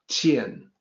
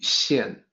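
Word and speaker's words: 見: So the pronunciation is not 见, it's actually 现.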